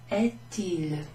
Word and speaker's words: est-il: So we've got this little hyphen there, and then that means that you need to pronounce that T. Quelle heure est-il?